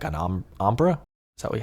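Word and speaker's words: ombré: one, and I tried to make like an ombre. Is that how do you say that? Ombre.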